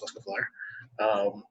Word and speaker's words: Lescouflair: I can be searched on the DMs Guild by searching my name, Lescouflair. Just it's spelled the way it's pronounced, so it shouldn't be too hard to find.